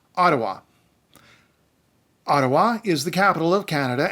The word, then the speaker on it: Ottawa: Catharines Peterborough I do want to make a point of telling you how to pronounce Ottawa Ottawa is the capital of Canada and it's in